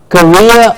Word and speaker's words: career: It's career with a rear at the end, yes, and carrier.